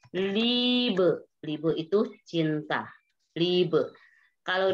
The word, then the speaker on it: Liebe: Kalau IE itu dibacanya panjang. Misalnya di sini Liebe.